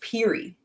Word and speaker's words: Pierre: It's pronounced Peary. So I was thinking that like there was a Y. It's Pierre. They're pronouncing it Peary. And I'm like, what? Pronouncing what? There's a street that's pronounced Peary, but it's written as Pierre.